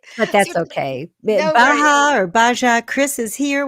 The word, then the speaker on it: Baja: He's a business coach for digital marketing agency owners, and he's originally from Madison, Wisconsin, and is now located in Baja, Mexico. Not Baja. Oh, I'm pronouncing it wrong.